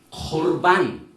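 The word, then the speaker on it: קורבן: 그래서 여기에 예물, 코르반, 발음을 코르반이라고 하죠.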